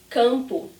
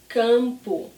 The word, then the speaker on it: campo: So here the M is at the end of a syllable, not at the end of a word, but it's the same thing. I don't close my lips, it's the same sound.